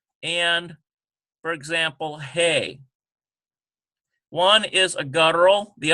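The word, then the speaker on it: הא: letter and, for example, hey. One is a guttural, the other one is a very smooth H sound.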